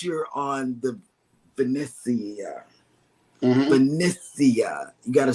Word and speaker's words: Venezia: Venetia. You got to say it like that, John Hill. said. Venezia. Venezia.